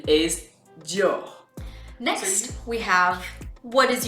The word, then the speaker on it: Dior: Okay, the French pronunciation is Dior.